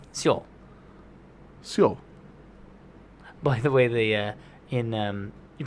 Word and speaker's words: Seoul: No, Seoul. It's Seoul. Seoul. So. I think you just barely say the E. Because a lot of people Seoul. say Seoul Seoul. in Seoul, but I think it's Seoul.